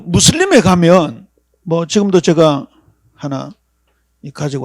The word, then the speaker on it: 무슬림: 그 다음에 무슬림. 이슬람 신자들을 무슬림이라 그러죠. 모슬렘 그러기도 합니다만은 아라빅에 좀 가깝게 발음한 무슬림입니다.